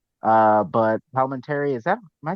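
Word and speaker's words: Palminteri: Uh, singer wanted uh Palment Terry. Yeah. Kuan from the beginning, but he wasn't available. Then he had an opening in the schedule. Uh, but Palment, is that am I saying the name right?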